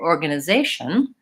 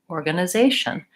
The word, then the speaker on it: organization: more quickly so for organization if I really think about it the organ uh those three syllables are very quick zey is longer and tion is quick again so organization bah bah bah bah